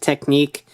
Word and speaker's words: Technic: shift Technic or shift technique uh the pronunciation is actually technique but the spelling is Technic so what however you